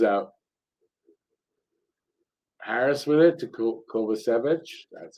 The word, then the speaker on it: Kovacevic: Harris with it to Kovacevic.